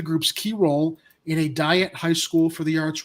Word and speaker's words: Dyett: Okay, it's Diet High School, DYETT.